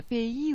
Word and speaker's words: pays: P-A-Y-S, it's spelt. P-A-Y-S, pay. Strange.